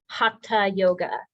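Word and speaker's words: Hatha: slowing down um so this next word is not th sound it is and that is hata Yoga which means which means uh yes yes we've all been saying it wrong hata yoga is a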